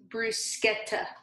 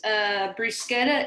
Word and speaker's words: bruschetta: Actually, it's pronounced bruschetta. Actually, it ain't. Yeah, it is. Bruschetta is an Italian dish, and in Italy, it is pronounced bruschetta. So that is the correct way to say it.